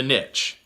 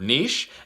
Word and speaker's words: niche: Step 2, or tip 2, is to get rich in a niche. And I apologize, I know some people pronounce that word niche. If I pronounce it that way, obviously it doesn't rhyme.